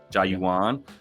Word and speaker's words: Jauan: he scored touchdowns in his name is Joan and it's spelled j Au everybody Jan Jennings found that out Jan jauan uh I love this